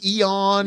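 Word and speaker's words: Ioan: I've never ion ion Eon yeah he has like such a hardfield I think that's how you pronounced his name yeah iama it's Welsh so it's all it's all consonant whatever I like him though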